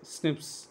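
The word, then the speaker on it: SNPs: That is called single nucleotide polymorphism, pronounce ஸ்னிப்ஸ்.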